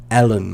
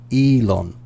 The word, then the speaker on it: Elon: behind tesla okay so when you said his name i heard ellen must say ellen yeah um but in in the well english pronunciation elon so so what you